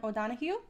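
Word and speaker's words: O'Donojú: On April 24th, 1821, the Treaty of Cordoba was signed by Spanish Viceroy Juan O'Donoghue. And it's spelled with a J. It's great. It's O-D-O-N-O-J-U. That is... With an accent.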